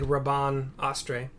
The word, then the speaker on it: Rabanastre: Like Raban Astre. Except it's not spelled like Raban at all. It's Rabanastre.